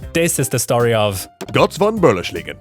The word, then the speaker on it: Götz von Berlichingen: Alright, this is the story of Götz von Berlichingen. Götz von Berlichingen.